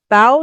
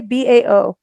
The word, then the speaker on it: bao: can't pronounce it national bow day bao not Bo b-a-o what is essential bow